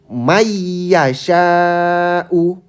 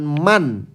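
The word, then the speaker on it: مَنْ يَشَاءُ: Jadi begini contoh bacanya. May yasyau bukan man.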